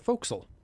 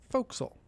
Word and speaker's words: forecastle: on a ship Naval vessel is called the foxel it is spelled Forecastle uh but it's pronounced folksol we're in Georgia you can tell by the